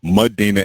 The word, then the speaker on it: Madina: get older, you know, I've met people with the name Medina, but not spelled the same way that mine is spelled. Would you spell yours? M A D I N A. As you know, most people spell it M E. D I N A, which is actually a Spanish last name. Mhm. Not to be confused. Yeah, exactly. Mudina and then and then